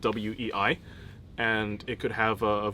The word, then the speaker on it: Wei: in Weilong is spelled WEI, and it could have a variety of tones. Like right now, it's supposed to be pronounced Wei, like with like a flat Wei sort of sound, which means like powerful and strong.